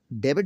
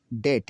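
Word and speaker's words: debt: कैसे बम बम बम बम बम और आगे देखें कम कंगा यह डेबिट नहीं है यह डेट है डेट कर्ज डेट कर्ज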